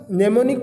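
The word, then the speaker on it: mnemonic: तो assembly language जो होती है दोस्तों यह नेमोनिक कोड से मिलकर बनी होती है। यहाँ इसकी स्पेलिंग लिखी है MEMONIC कोड, नेमोनिक कोड। जहाँ पे M साइलेंट है दोस्तों, तो नेमोनिक कोड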